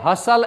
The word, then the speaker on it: hustle: ध्यान रखिए my dear students, these words are pronounced as हसल and Bansal. T is always silent in the spellings.